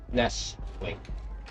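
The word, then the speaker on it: Nestlé: is silent that's yeah the tea is silent don't don't put the tea in it to see man just let's let's put it this way in the American language it's nestly okay in in the foreign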